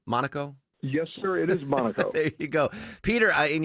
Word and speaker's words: Monaco: Is that how it's pronounced? Monaco? Yes, sir. It is Monaco.